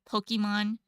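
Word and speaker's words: Pokémon: Yeah, for Japanese, it's like kind of easy though, because it's like some people still pronounce Pokemon like Pokemon. Pokemon, when it's always like in Japanese it's like the ke, like cake, But then the English is weird though.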